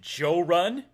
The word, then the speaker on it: Jorrly: When, not if he finds my channel, he'll pronounce it Joe Run. Because I've had some friends from different parts of the South call me Joe Run, which is cool. Uh, but I like how you said it.